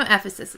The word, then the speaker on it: Ephesus: I know Ephesus is correct.